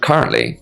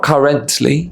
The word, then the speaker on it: currently: With the pronunciation of currently, it's not currently, it's currently.